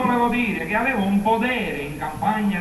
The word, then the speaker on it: potere: dei Lavoratori dello spettacolo Podere operaio Podere operaio Podere operaio Scusi signore ma non si dice potere con la si dice potere con la t perché non lo so